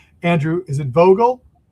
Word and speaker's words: Vogel: I hope I get your last name pronounced correctly. Andrew, is it Vogel? It's Vogle.